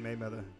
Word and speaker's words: Mayweather: He said Mayweather. Y'all know what I mean. Boy, Mayweather in this video. We'll need a bigger ship. Yeah, shout out to Floyd Mayweather.